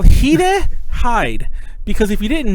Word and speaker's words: Hide: who don't know who heeda is he's a guitarist reaction I will talk about him way later on but um but heeda is spelled hide like an english hid e so when i was